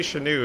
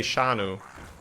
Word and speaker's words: Shanu: I call you then so it's not a it's not an American pronunciation so is it then Shanu or Shah new Chanute see if you say sure new it's more American again right I would say shano shano shano okay yeah